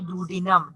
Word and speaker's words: duodenum: Again, please better try to pronounce properly duodenum. Duodenum.